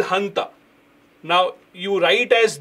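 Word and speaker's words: junta: Their military is called Hanta. Now you write as J U N T but the pronunciation is H.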